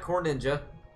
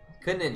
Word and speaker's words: Conninja: Yeah, that's not how you say Conninja. It's not Corninja. Conninja. Yeah, Corninja. That's what I'm saying. It's Conninja. Yes, Corninja. No, it's not Corninja. Stop.